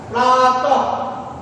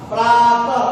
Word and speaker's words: प्रातः: विसर्ग जो है इसका जब उच्चारण करेंगे तो लगता है प्रातः का, प्रातः का, प्रातः, लगता है जैसे हम इसको ह बोल रहे हैं, लेकिन क्या ह के